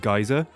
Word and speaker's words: geyser: Just to clear something up, I pronounce it geyser, but the Del Boy joke was already in there, and I realized it would create a discontinuity to the joke if I pronounced it in two different ways. I don't actually say geyser as geezer, I'm not a monster.